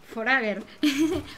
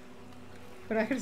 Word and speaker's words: Forager: Forager, se pronuncia Forager, no Forager.